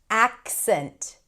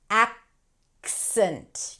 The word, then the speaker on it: accent: Accent. So the C is kind of held and then you shift into the S. A. The S sound, right? Spelled with a C, but it's a S sound. Accent.